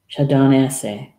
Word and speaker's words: Shawdonese: The E's are sometimes pronounced as A's. Shawdonese. That sounds better, doesn't it?